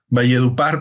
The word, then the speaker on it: Valledupar: ver que por Val deur creo que se pronuncia valledupar Perdón está un poquito más O sea podemos